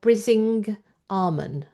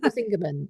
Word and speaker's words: Brisingamen: it off the shelf, I always thought it was the Weird Stone of Brising Armon, yeah. because you don't know how to say it. No, I don't. I And still he said don't. it's the weird stone of Brisingamen, I think is how you actually say it.